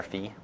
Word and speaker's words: Phi: this thing fee here Phi or fee depending on how you want to pronounce it I might switch back and forth apologies for that fee